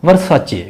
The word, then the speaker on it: Versace: 19 VERSACE, वर्साचे, VERSACE वर्साचे, CE को आपने CH pronounce करना है, वर्साचे इटालियन ब्रांड है।